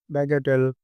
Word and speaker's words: bagatelle: इसका इसको उच्चारण करते हैं बैगेटेल, बैगेटेल, बैगेटेल, बैगेटेल।